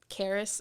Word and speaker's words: Charis: Charis spelled Charis. Yes. The H is silent.